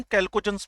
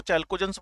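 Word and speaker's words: Chalcogens: पहली बात कि इनको हम कैल्कोजेंस बोलते हैं। ये अपना अपना प्रोनाउंसिएशन हो सकता है कि कोई इसको चैल्कोजेंस बोल रहा है, कोई इसको कैल्कोजन बोल रहा है। तो मेरा कहना ये है कि आपके पास हुए कैल्कोजेंस, और इसका एक्चुअल मतलब है ओर फॉर्मिंग एलिमेंट्स।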